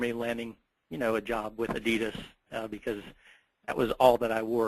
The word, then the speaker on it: Adidas: The Adidas brand was actually founded by Adolf Adi Dassler. And the correct pronunciation is actually Adidas. But here in the States, we Americanize it. It's changed to Adidas.